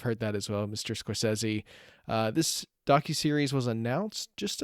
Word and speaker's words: Scorsese: I am pronouncing that name correctly. It is Scorsese and not Scorsese.